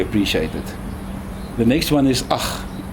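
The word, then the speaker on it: ag: The next one is ach, A-C-H, ach. It's spelled A-G, but it's pronounced A-C-H.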